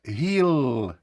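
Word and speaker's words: he'll: тому ми вимовляємо will he will буде вимовлятися Гіл знов таки зверніть увагу тому що саме так пишеться слово гл пекло але там немає апострофа будьте уважні до того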